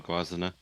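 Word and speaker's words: Gwazine: A Guazina or Guazine. If you want to go with the German pronunciation, it would be Guazina.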